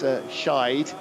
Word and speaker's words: Scheid: Honut Motorsport 666 Team Scheid, that's Scheid, S-C-H-E-I-D, D being pronounced as a T in German.